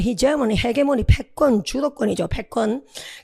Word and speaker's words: hegemony: 우리 헤게모니, 영어 발음은 hegemony, 헤게모니, 패권, 주도권이죠.